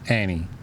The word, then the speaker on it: Ani: No, guess how it's spelled? How? Comedic. That's interesting. ANI. Yeah, Annie.